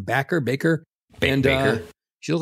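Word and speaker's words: Bakker: Baker.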